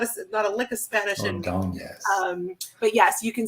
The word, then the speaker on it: Ordonez: and her name, is it pronounced Ordonez? You got to put the enya, you got to put the Spanish flavor on it.